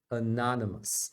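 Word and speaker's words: anonymous: shua aqui é chuá e essa é a sílaba tônica você vai pronunciar a anonimous anonimous tá vendo Então quando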